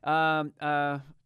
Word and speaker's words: Takotsubo: Takotsubo, I guess it's pronounced.